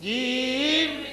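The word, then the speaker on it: جيم: ফোঁটা তার নাম জিম তার নাম জিম জিম উচ্চারণ কেমন হবে জিম জিম মাঝখান থেকে শক্তভাবে আদায় হবে জিম জবর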